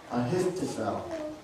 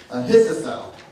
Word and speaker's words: Ahithophel: and hard to say, Ahithophel. Let me say it again because I said it wrong. Ahithophel. I told you it's hard to say. Ahithophel is David's